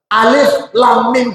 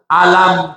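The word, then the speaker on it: الم: ya Rasulullah bacanya begitu di ayat lain ada huruf yang sama alam faaluka biashabil fil hurufnya sama tapi kita enggak bacanya Alif Lam Mim taruh k alam yang di sini kita baca Alif Lam Mim dalikal kitabula begitu Rasulullah ngajarin kita kita enggak baca alam dalikal kitabu la rba Fi tapi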